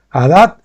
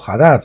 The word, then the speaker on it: Hadad: En este caso Hadad fue llamado Hadad o Hadad, como lo quieran. Si la H es muda, pues sería Hadad, si la pronunciamos sería Hadad.